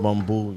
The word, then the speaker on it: Bumbu: So we sitting here with some, how you pronounce it, Bumbu? It's Bumbu, you know what I mean?